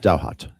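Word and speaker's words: Ross Douthat: um uh I was I don't know how to pronounce his name. Is it Duh? Ross Duhhat from the New York Times. Um, D O U H T Dowart. Dowart. Dowhat. Thank you.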